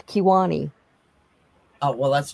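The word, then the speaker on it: Kiowa: Kiwa. That's not how you say it. But okay, I know what you're talking about. Well, how do you say it? It's Kiwani.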